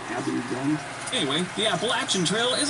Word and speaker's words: Abingdon: A-B-I-N-G, Dun, Abingdon.